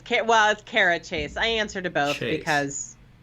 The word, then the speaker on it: Cara Chace: show I'm sorry I don't know if I pronounced your name in the right way actually Kara you did it's k12 Kara chase I answered about it because yes kara chase